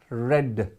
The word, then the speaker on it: read: The lesson is being read. මෙතන තියෙන read කියලා තමයි බැලුවේ බැලමට. But that is pronounced as මොකද්ද?